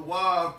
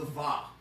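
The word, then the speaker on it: ו: commonly within rabbinic Judaism, you're going to see the Wav pronounced as the Va, okay? But that's not the only way in which the Wav is expressed. There are other Israelite communities that express it as the Wa.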